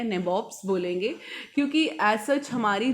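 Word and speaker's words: nabob: अब यहाँ पे नैबॉब जो वर्ड है ये एंग्लिसाइज्ड होता है। जब किसी लैंग्वेज से हम वर्ड को उठाकर लाते हैं, थोड़ी प्रोनाउंसिएशन में चेंजेस आ जाती हैं, तो नवाब का बन गया नैबॉब्स।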